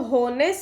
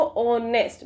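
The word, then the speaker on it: honest: अब ऑनेस्ट, क्या हम इसको होनेस्ट साउंड मतलब प्रोनाउंस करते हैं, नो, हम क्या प्रोनाउंस करते हैं इसको, ऑनेस्ट, मतलब ओ की साउंड आ रही है, यहाँ पर वोवल साउंड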